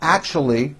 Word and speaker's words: actually: argue with my co-workers actually it's not actually with a C H it's act with an sh sound act actually I left